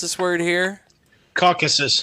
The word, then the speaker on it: Caucasus: pronounce this word here caucasus caucasus mountains there you go caucasus like caucasian how do you not